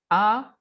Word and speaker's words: as: Recuerden, la S no se pronuncia. Tu as aimé.